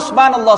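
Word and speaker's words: سبحان الله: makna kalau saya sebut subhanallah subhanallah subhanallah ini Apa maknanya karena bacanya Subha Kalau anda baca sad pun sudah salah anda baca ha Subha Subha ini pagi maknanya subuh Sin Subhanallah pastikan ada ha lafzul jalalah tuh jangan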